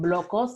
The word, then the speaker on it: BLOQOS: Another thing that I'm working on is this project called Blocos. It's spelled BLOQOS _.